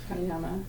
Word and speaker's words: Pranayama: How do you spell that? Prana, Prana, and Yama, Yama. Okay. Pranayama.